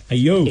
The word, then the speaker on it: Ayo: So I pronounced it wrong, right? It's Ayo. Ayo. Ayo. Ayo. It's like a shout. And you have to shout because there's an exclamation mark.